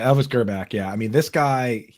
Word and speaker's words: Grbac: photos of the other Kansas City quarterback, Elvis Grbac.